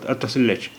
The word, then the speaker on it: اتصل لچ: تو اسے کہیں گے اتصل لچ. اتصل لچ. دیکھیے وہاں پر پھر کاف کا تلفظ چھ کی طرح ہوگا. چھ کی طرح ہوگا. اتصل لچ.